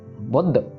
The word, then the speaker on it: बुद्ध: तद के साथ है सो इसको बुध कहना हमने प्रेशर देके अगर हम नहीं देंगे तो फिर वो ददद की आवाज बुध ऐसे आवाज आ जाएगी यह गलत है यह सही है सो ऐसे प्रोनाउंस करना सो बुद्ध सो थ